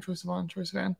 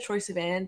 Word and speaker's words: Troye Sivan: Troye Sivan. I've always said Troye Sivan, but I'm pretty sure it's Troye Sivan.